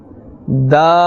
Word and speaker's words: د: And the makhraj of this letter comes from the tip of the tongue and the roots of the upper front teeth. Let us pronounce again. Dal, Dal, Dal.